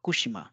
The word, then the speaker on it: Fukushima: Fukushima is that place so how it will be pronounced it is for kushima it is kushima kushima so here the devoising is taking place only for this and for and but